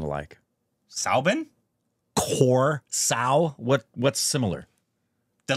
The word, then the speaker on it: Soubin: Soubin. Soubin. Welcome to the show. Hi. Soubin, sir. Soubin? Soubin. So it's like my name, but with an S. What? Korbin, Soubin. Yeah, they don't sound alike. Soubin?